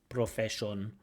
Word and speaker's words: profession: We want candidates to recognise that unstressed vowels have a schwa sound.